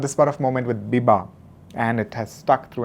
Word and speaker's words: Biba: even for boys at times however it is pronounced as Biba B ibba in Punjab as I was in